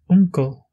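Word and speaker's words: uncail: Dernière lettre, le U, bref, se prononce comme le OU français, ou oncle en irlandais se dit uncle.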